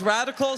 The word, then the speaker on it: Radicle: And it's Radicle spelt with an L-E, not like the A-L that I messed up and put on this plaque, but radical like the root radical.